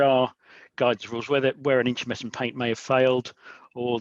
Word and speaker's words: intumescent: Intumescent.